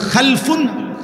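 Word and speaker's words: خَلْفٌ: একটা জেনারেশন দুই রকম আরবিতে একটা হল খালফুন আরেকটা হলো খালাফুন একই শব্দ শুধু উচ্চারণের মধ্যে একটু ভিন্নতা। মাঝখানে একটা লাম আছে। এ লামটার মধ্যে যদি সাকিন হয় তাইলে হল খালফুন। আর যদি লামের মধ্যে জবর হয় তাহলে হল খালাফুন।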